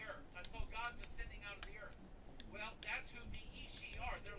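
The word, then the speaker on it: Aos Sí: The Ishi is pronounced A-O-S-S-I, but it's pronounced Ishi.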